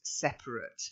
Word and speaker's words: separate: version of the book it's not to separate it's actually an adjective so it is separate okay so desperate separate